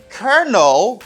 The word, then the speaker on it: colonel: spelling of the word it's different than the pronunciation you say kernel it's not colonel it's colonel colonel colonel colonel